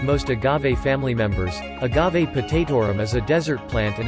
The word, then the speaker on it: potatorum: use in brewing beer potatorum is pronounced with the accent on the third syllable i.e hot taut t-o-h